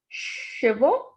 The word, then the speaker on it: chevaux: Next, we have plural form of chevaux. This is CH is sh. So CHE is she. VAUX is vo. So the pronunciation of this is chevaux.